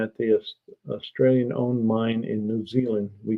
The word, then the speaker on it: New Zealand: so apparently unfinished projects been uh mispronouncing New Zealand he called it nude Zealand I don't know if